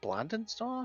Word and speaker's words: Blingdenstone: Is it Blindonstone? I thought it was like Blingdenstone. You could pronounce it that way. That's the gnomish name for it.